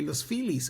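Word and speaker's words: Los Feliz: So, if you were going to Los Felis, you would have to learn to say Los Phelis, otherwise the taxi wouldn't take you there.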